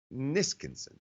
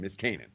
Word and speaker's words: Niskanen: Caps defenseman Matt Niskinson. How do you pronounce his name? Niskanen.